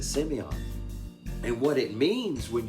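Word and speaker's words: σημεῖον: greek that word signs is uh simeon that's how you pronounce it semion and what it means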